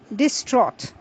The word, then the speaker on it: distraught: we move on to another Words which is pronounced as distraught d i s t r a u g